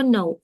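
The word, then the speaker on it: know: так само національності дієслово No так історично склалося це хороша відмозка всіх вчителів що історично склалося що оцей kн в англійській читається як н Тобто ви бачите кн ви к не читаєте no no знати схоже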